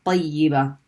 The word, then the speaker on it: طيبة: Then we pronounce the ya here with the kasra, yi. Tayyi. And what happens to the letter ba? It's the next letter is ta marbuta, so it has to be pronounced with a fatha.